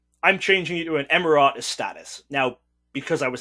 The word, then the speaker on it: emeritus: Let me just mention, because the way you pronounce that, it doesn't even exist in the USA language, in the English language. So emeritus, so he's emeritus.